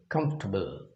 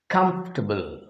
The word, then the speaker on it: comfortable: a dye syllabic word comfortable comfortable with stress on k comfortable okay let us see